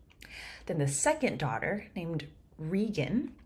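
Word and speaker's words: Regan: stuff you know then the second daughter named rean it's it's spelled Reagan but usually in Shakespeare Productions it's pronounced rean for some reason maybe Regal right whereas gonal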